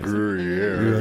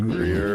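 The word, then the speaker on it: Gruyère: Not Gruyere. It's Gruyere.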